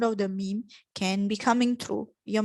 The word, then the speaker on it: م: Okay, then we have the meme. Meme is just pronounced by closing your two lips together.